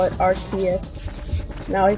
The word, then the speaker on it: Arceus: It's kind of like Arceus, where it's like, oh, it's super cool.